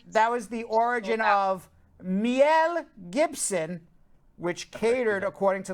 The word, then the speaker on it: miel: Mel sounds quite similar to the Spanish word for honey, miel. Is that how you pronounce it?